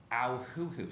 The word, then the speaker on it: Auhuhu: And our house was on Auhuhu Street. My mom taught us how to say the name by pinching us, ow, and saying, "What sound does owl make? Hoo, hoo."